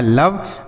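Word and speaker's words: love: अब ओ का उच्चारण हम ओ की मात्रा नहीं करेंगे। यहां पे हम ओ का उच्चारण यहां पे आ के रूप में करेंगे। वी ई से व हो गया। यहां लिखा है लव।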